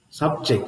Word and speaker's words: subject: subject it's a noun subject it's a noun subject it's a verb here now what is what is the first word subject and you have the St on the first syel means see you are